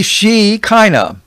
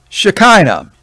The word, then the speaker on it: Shekinah: Well, there's a couple ways to spell it, but the most common that I have found is the Shekinah. Shekinah. Shekinah.